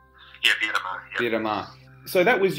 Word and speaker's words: Beira-Mar: Is it pronounced Beira-Mar? Yeah, Beira-Mar.